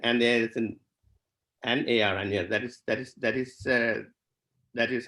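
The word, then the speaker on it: Añar: So N, and there's an A-R, Anjar. That is how I think we should write the word in English, Anjar. It's a nya sound, right?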